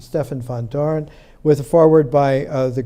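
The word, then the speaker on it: Stefan Vandoren: They took a cue, Gerard de Hooft and Stefan van Doren, the Dutch pronunciation, Stefan van Doren, with a foreword by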